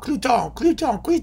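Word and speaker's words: Cluytens: Oh, Cluton. Because, you know, some of you have tried to tell me how to pronounce his name. I don't know. I don't care. C-L-U-Y-T-E-N-S. Cluton.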